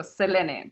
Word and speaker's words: Selene: friend was like, no, you should really go by how it's read in Spanish because I am Mexican American. And so Selene, but I am okay with either or because some people have trouble pronouncing it.